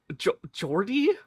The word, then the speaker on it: Jordi: I'm not sure whether Lumen's name should be pronounced Jordy or Hordy. So, I gave my best guess. Jordy. Oh my god.